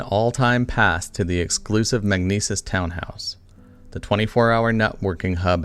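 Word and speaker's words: Magnises: base of operation for his new business venture magnesis as it's pronounced or magnisis as it's spelled it's like a credit card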